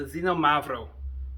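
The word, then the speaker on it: Xinomavro: so this went uh so it's from the xenomavro I think I pronounced that right it has an x on the front and anytime you see an X I'm just lost it's uh you know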